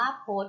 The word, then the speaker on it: พจน์: แรก เลย นะ คะ พจน์ อ่าน ว่า โพสต์ โพสต์ ประกอบ ไป ด้วย พอ พา จอ จาน อ. หนู การันต์ ค่ะ พจน์ พจน์ หมาย แก้ คำ พูด